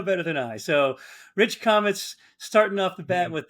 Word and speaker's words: Comitz: your name wrong the commits or commits am I seen your name wrong I say comets I say comets but all right well